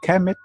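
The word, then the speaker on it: Kemet: the ancient name and to explain why I didn't write the vowels like I pronounce the vowels commit e ke m80 because we are not very sure about the vowels when we read the Egyptian language we are very sure about the consonant so okay I am sure it is K M T but could be commit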